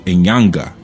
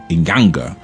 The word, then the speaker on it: inyanga: you had another aspect of Sanga called the inyanga inyanga okay and that's spelled NY a n g a or sometimes